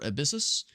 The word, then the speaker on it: Abyssus: There's one set up for Abyssus. Abyss US how you pronounce it, but that's how it's spelled. A b y ss.